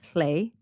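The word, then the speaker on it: Llew: He tricks her into naming the child, who she names Llay, which is spelled L-L-E-W.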